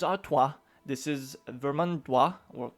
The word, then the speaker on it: Artois: of your comments and I know I've been pronouncing things horribly wrong especially the O is was very bad so now let me say this this is Artois this is vermin WA